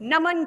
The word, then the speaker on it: नमः: नम, न म, नम। जैसे ही अ की मात्रा का प्रयोग, उच्चारण हो जाएगा नमः, नमः।